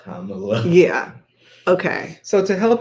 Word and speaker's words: Kamala: They'll like I used to say Kamala, but it's the accent is on the first syllable, not the last.